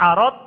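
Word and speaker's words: عَرَض: Kalau bacanya arad, ro-nya fathah, nah artinya harta.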